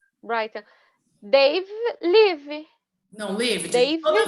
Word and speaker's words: Brighton: Não esquece de, sempre que você usa o have, mudar o verbo, e a pronúncia aqui é Brighton. Brighton.